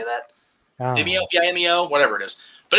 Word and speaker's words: Vimeo: It's actually on Vimeo. How do you say that? Vimeo, Vimeo, whatever it is.